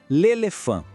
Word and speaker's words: l'éléphant: L'éléphant. Repare no apóstrofo. Ele junta o artigo com a palavra que começa com vogal. Temos 2 sons nasais aqui, em le e fan.